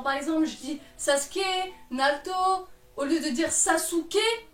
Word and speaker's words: Naruto: Pourquoi il y a des gens qui viennent me faire chier en disant « Pour information, ça se prononce Naruto ».